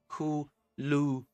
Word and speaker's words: kuluma: And how you spell it, kuluma, or how you pronounce it, kuluma, like ma, doesn't matter.